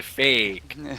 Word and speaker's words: feck: He spells it F-E-C-K, just to clarify that. But Exile Shocks. Yeah. Fack, not the other one. But you have to say it like a Canadian, fake.